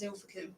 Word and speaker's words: Ilfracombe: Yeah, but it's actually pronounced as Ilfracombe.